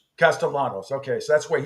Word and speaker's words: Castellanos: Does he pronounce the L's or not pronounce the L? Castellanos.